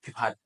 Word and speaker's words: Pipat: Pipat.